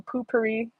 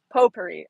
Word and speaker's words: potpourri: Potpourri. I know that that's the right way to say it, but I cannot look at that word without thinking poopery.